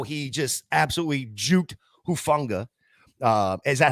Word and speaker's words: Hufanga: Maybe it's a little sympathy pain for how he just absolutely juked Hufanga.